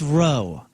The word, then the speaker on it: Rowe: It's Rowe, and we all It's know Rowe. that. Dustin Rowe. No, it's another guy. His last name is spelled Rowe. I know. R-O-W. It's Row.